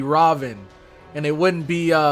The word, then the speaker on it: Ravana: god or goddess, but I'm pretty sure many of the gods whose names end in A, you don't pronounce the A. So it wouldn't be Rama, it'd be Ram. And it wouldn't be Ravana, it'd be Raven.